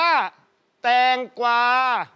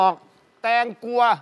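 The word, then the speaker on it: แตงกวา: แถว ภาค อีสาน อ่า คำ นี้ อ่าน ว่า แตง กวา นัก เรียน บอก แตง กลัว 9 บล็อก ถ้า เธอ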